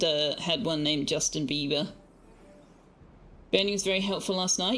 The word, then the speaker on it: Bieber: Fun fact, the German word for beaver is Bieber, which is pronounced exactly the singer's last name.